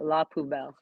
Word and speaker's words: La Poubelle: La Poubelle.